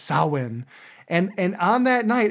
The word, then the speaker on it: Samhain: the Celtic people celebrate Sam Hayne which from what I understand is pronounced sawin and and on that